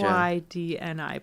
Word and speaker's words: Sydni: SYDNI. Yes. Crap! It is NI. I've taken out enough. It is NI. I thought it was NEY. Crap. No, it's not NEY. Okay, it's NI. Okay, gotcha. SYDNI.